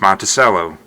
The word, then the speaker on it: Monticello: Monticello, it's not, it's pronounced Monticello, although we're kind of changing that a little bit.